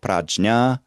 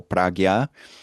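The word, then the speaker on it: prajñā: It's called prajna or pragya. Panya in Pali. Prajna and pragya are two different ways of pronouncing the Sanskrit one, depending on whether you're following the southern or northern systems.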